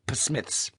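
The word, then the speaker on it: Psmith: of thing it's called P Smiths George Grandy tugged an old envelope from his pocket scribbled that's Smith with a silent PE at the start George Ned said he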